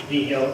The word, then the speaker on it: Vigil: Naval Station Everett, Joseph Vigil, excuse me, that's how you say it, Vigil, and he's going to be presenting as well, so that everybody's comfortable.